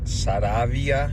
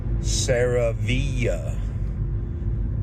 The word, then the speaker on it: Saravia: a Spanish last name it is pronounced saravia in Spanish but if I'm taking speaking to my um non-spanish friends that don't speak Spanish I pronounce it Sarah via so I guess you